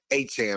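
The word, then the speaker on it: Etienne: guys leaving like Travis Achan, right? That's his name now. I guess we've been saying it wrong for all these years.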